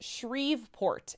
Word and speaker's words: Shreveport: 50 bits oh Heather it's pronounced it's pronounced Shreveport it's all right it's a Louisiana thing ah gotcha yeah I've